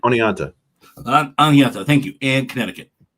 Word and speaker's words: Oneonta: tomorrow will be West Michigan and Lakeland with Onondaga. Is it Onondaga? I never can say it right. Oneonta.